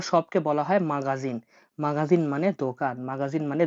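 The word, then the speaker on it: магазин: তাহলে দোকানকে বলা হয়ে থাকে মাগাজিন, মাগাজিন মানে দোকান, মাগাজিন মানে দোকান।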